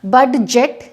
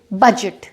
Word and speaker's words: budget: तो वो जो बजट होता है उसमें होता है BUDGET, यहाँ पे डी लिखा जाएगा लेकिन बोला नहीं जाएगा, बडजेट नहीं बोलेंगे, इसे बोलेंगे बजट।